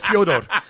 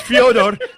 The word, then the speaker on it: Fyodor: You said Fyodor. So when you said Fyodor, everybody start bagging on you, and you say, well, it's actually what his mother calls him.